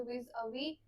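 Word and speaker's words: vis-à-vis: हम विवी बोलते है इसका प्रोनंसिएशन कुछ ऐसे रहता है वि अवी लास्ट का एस जो है वो साइलेंट होता है डीटर देखो डीटर क्या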